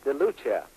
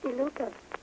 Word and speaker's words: DeLuca: DeLucia. I think that would be. That's the way you pronounce Santa DeLucia. She's from Chicago, I believe. Is that pronounced right? DeLuca. DeLuca. That's right.